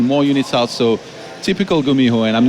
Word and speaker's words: GuMiho: I just say first it's Gumiho not the gummy I just wanted to get that out of the way okay so it's let's have this again I want to hit the proper pronunciation not gummy ho okay there it is